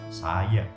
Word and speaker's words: saja: untuk jadi yang ketiga huruf j digunakan untuk bunyi y contohnya saja dibaca dengan saya pada ejaan ini tidak